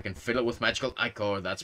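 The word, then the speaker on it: ichor: triple chalice I can fill it with magical iore that's pronounced iore okay okay choose your Echo wisely um become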